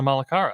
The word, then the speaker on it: Malacara: Yeah, Malacara. All yes, right. yeah, I yeah, don't roll the R, but yeah.